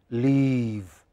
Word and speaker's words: leave: Some vowels are very short, live, and the others are very long, leave.